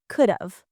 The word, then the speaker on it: could've: And don't forget the pronunciation, could've.